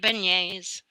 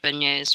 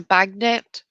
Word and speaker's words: beignet: a thing are funny I did hear a gentleman refer to beignet as a bagnet once and it is I